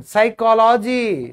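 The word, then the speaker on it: psychology: Pneumonia में P silent क्यों हुआ? क्योंकि उसके बाद एन आ गया। मनोविज्ञान साइकोलॉजी साइकोलॉजी साइकोलॉजी साइकोलॉजी सुना हुआ है ना साइकोलॉजी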